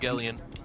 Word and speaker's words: Evangelion: Evangelion. Thank you. I've been like I forgot how to pronounce it.